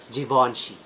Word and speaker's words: Givenchy: little guys I Porsche second is Givenchy and we should pronounce it Givenchy third one is not